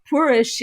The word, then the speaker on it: purish: Almost in like a Galician way of pronouncing the X as like a sh. Poorish is like you've ever